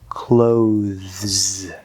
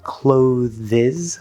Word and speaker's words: clothes: Many English learners try to say clotheses or closes or clotheses or something like that. That E is completely silent.